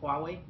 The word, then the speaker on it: Huawei: Most people can't pronounce the name Huawei. It's Huawei.